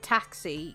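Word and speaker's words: tacsi: it with an X it's spelled t-a-c-s-i here so Taxi um so you get a c and an S sound to make a s sound instead of the X though I swear I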